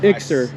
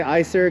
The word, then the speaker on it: Iczer: build with us yeah how do you say this is it ixter yeah but people say icer because yeah I can see why but it's from a